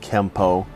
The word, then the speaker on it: Kempo: with an N but should be pronounced with an M through romanization it is sometimes spelled Kempo but we are at the point where translation errors have created two ways to spell and pronounce the same word Edmund K Parker was